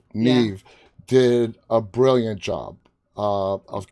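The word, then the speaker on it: Niamh: shoulders uh and uh nyam did i pronounce her name correct yeah it's nev it's an irish name neve did a brilliant job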